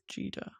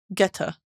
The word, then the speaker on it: geta: How to pronounce jida? Geta. Sorry. Geta.